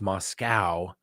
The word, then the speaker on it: Moscow: It's Moscow, how we pronounce it in Idaho.